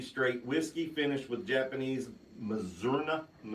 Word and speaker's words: Mizunara: It is the Kentucky Straight Whiskey finished with Japanese Mizunara. How do you say? Mizunara.